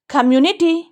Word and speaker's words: community: कम्युनिटी, कम्युनिटी, कम्युनिटी, म्यू पे stress है, यहाँ पे रुकेंगे।